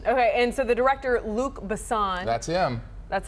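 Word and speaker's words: Luc Besson: that it has okay and so the director Luke bassan that's him that's how you say it yes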